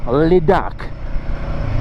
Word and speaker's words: Ladakh: To say Ladakh, if you go a little bit French, you'll get it right. Ladakh. And that's how you pronounce it.